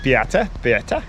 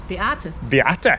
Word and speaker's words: Beata: No, Beata. Beata.